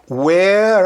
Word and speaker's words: where: Então, where are you from? Reparem que eu não pronunciei o E do are. E eu não pronunciei o E do where.